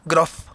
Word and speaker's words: Grof: Grof, porque Grof, es F ok. al final.